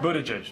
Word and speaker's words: Buttigieg: Buddha get Buddha gas Indiana mayor Pete Budetti pronounce your last name Buddha juice but around South Bend they just called me